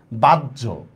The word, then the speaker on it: বাহ্য: দিয়েন না ঠিক আছে এখানে কিন্তু আবার জ হবে না এখানে ঝ হবে অনেকেই আমরা অন্তস্থীয় জর সাথে জ ফলা আর হর সাথে জ ফলা দুইটা উচ্চারণ এক করে ফেলি এখানে হচ্ছে সমস্যাটা বুঝতে